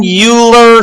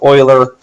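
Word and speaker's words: Euler: If the graph has no vertices with odd degree, then it has at least one uler circuit. Uer. Uler. I think it's actually pronounced oiler.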